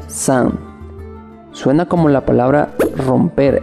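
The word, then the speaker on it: 伞: La palabra china para paraguas se pronuncia san.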